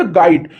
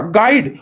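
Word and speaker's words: guide: silent in the word गाइड हमने क्या कहा गाइड और यू यू नहीं निकाला ना तो इसलिए जब गाइड पढ़ा इसको तो यू ही तो साइलेंट में है काइंड ऑफ टीचिंग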